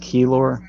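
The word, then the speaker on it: Kelor: It's pronounced Keylor, but thank you.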